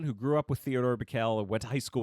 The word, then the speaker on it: Bikel: deal no and Ted Bickel yeah Ted Bickel is Marley sorry am I pronouncing that correctly it's Theodore bikel Theodore bikel there you